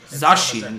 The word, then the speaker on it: Zacian: Zacian, that's how you pronounce that.